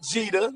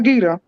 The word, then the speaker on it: Jeter: you off, sister, but it's definitely Jeter. No, I get it now. Please correct me, because I will correct you if you mispronounce mine wrong, baby. I ain't going to lie. I will get you, too. So, Mr. Jeter, right. You said Jeter or Gita? Yes, Jeter. Okay, yes, Mr.